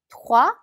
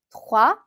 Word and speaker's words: trois: trois. 자, 이렇게 때와 에르가 같이 붙어 있으면 발음을 하기가 조금 쉽지는 않죠. 그럴 때는 때보다는 에르에 더 강세를 둬서 발음하시면 훨씬 쉽습니다. 다시 한번 해볼까요? trois.